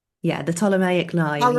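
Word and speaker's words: Ptolemaic: I should have I should have known that the the P is silent.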